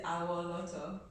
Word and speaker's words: Awoloto: Mrs. Awoloto. I said it right, I think. You did. Hey, Awoloto, come on.